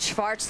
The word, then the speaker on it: Schwartz: Barbara Schwartz, the Austrian pronunciation for all of you back home who may be wondering. Schwartz.